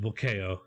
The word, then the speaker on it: Bulkeo: Get your oars because it rhymes with mayo. Bulkeo. It's pronounced Bulkeo.